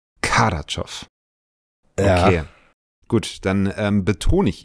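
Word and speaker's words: Kardaschow: ihn jetzt richtig aus ich bin mir relativ sicher dass er Kadow ausgesprochen wird Kadow okay gut dann betone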